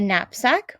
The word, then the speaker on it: knapsack: All of these letters begin with K and N. And because K and N are in the beginning of the word, the K is silent.